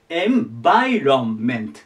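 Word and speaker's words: environment: がここですねアクセントが VI ここにいきますこの上ま I の上だねエンメて言いますエンバイロンメントみたいな感じエンバイロンメントでこれで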